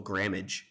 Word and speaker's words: grammage: In this case, grams, the total grammage. So, the rhymes with damage.